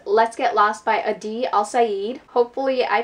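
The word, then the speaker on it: Alsaid: Let's Get Lost by I keep saying Aldi. It's not Aldi. The next book that I want to read is Let's Get Lost by Adi Al-Said.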